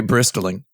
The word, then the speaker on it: bristling: So I saw some negativity about the trailer that got me bristling, which was, I like to pronounce the T in bristling. It got me bristling.